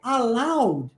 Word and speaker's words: allow: toda essa vida e no seu padrão linguístico a l o é pronunciado alad entendeu aad só que no padrão linguístico do inglês a pronúncia é allow allow viu é uma outra pronúncia é outro som é outro padrão por isso é que